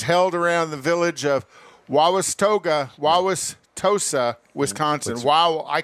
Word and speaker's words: Wauwatosa: and it was held around the village of wawas toga wawas tosa wisconsin wow i can't pronounce it wauwatosa wauwatosa like blah blah so and that was that